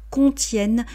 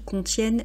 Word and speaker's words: contiennent: On dit bien qui contiennent, ne prononcez pas le son en, bien qu'il y ait ENT, lorsque c'est dans le cadre d'une conjugaison, donc troisième personne du pluriel, on prononce les frigos qui contiennent des produits surgelés.